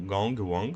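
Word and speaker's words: 公王: No caso, em chinês a pronúncia é diferente, seria algo como Gong Wang, só que nos dois idiomas eles têm um sentido de soberanos, de liderança.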